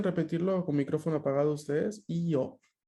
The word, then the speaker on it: io: Io. Io. El acento está en la I, no en la O.